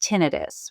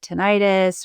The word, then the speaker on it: tinnitus: Um, and one of the things, one of the clues of hearing loss is tinidis, which um, you might hear the word tonitis. It's spelled t i n i t.